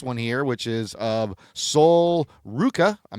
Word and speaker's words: Sol Ruka: on this next one here, which is of Sol Ruka. I'm not familiar with her either. I hope I'm saying these right. Yeah, that's Sol Ruka.